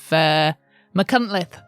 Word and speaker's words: Machynlleth: Thanks to Beth, who is one of our Welsh patrons, who corrected me on my pronunciation of Machynlleth, that's what it was.